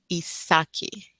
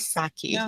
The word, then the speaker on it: Isake: name so I can't so it's isaki no yeah that's correct isaki isaki I love it